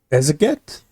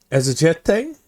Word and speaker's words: exegete: I'm gonna pronounce this wrong. Ezeget? Exegete? I'm going to Google that word. An expounder or a textual interpreter, especially of scripture. Oh, I was right. It's exegete. So it's an exegete.